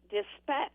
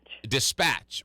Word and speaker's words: Dispatch: on dispatch so it's dispatch dispatch right and the syllable is on the second or the accent is on the second syllable so I mean I